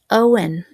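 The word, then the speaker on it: Eoghan: And I mentioned the guy E O G H A N. Hopefully you put a guess in. That is pronounced Owen. How many of you guessed Owen?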